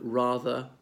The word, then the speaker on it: rather: Or the word rather, pronouncing the first R, not the last one, and the A is fairly long.